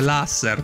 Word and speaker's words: laser: proposito ho scoperto che non si pronuncia laser con la Z con la s sonora In realtà dovrebbe essere laser dovrebbe essere lasser con la s proprio quella sorda perché l'asser è un è un acronimo Se non ricordo male